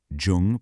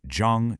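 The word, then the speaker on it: 중: Now shift over to the Japanese anomi, it is pronounced chu. Jung becomes chu. Once your brain links Jung to Chu, boom, you've just created a master key.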